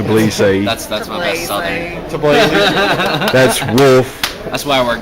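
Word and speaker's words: Tbilisi: Georgia right departure day to bleezy out into the field video blog to Blissey I said it wrong and I'm being corrected to police say that's wolf that's why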